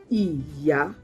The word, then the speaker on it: Ìyá: Even though it's written the same way, the same spelling, but the pronunciation is quite different, and the tone mark on the two are different.